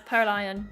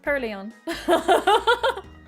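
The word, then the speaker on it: Purrloin: No, it's per lion. Trust me. Trust me on this. Trust me, it's Pearlon. Trust me. I am I am known to be 100% right in my way of pronouncing Pokemon names. It's Pleon.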